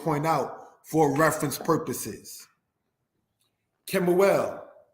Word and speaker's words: Kemuel: Kemuel said as Quimuel, because brothers and sisters, this letter here, the kuf, makes the Q-like sound.